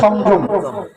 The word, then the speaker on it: সংযম: সংযম করতে হয় লোকে সংযোগ বলে কিন্তু শব্দটার উচ্চারণ হচ্ছে সংযম সংযম সাধন করতে হবে সংযম সাধন কিরকম আমি ভগবানের সেবার উপযুক্ত নই বাদে দেব দেবতার সেবার উপযুক্ত নই।